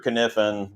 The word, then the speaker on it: Kniffen: uh james mr mr kniffen the k is silent uh he drilled the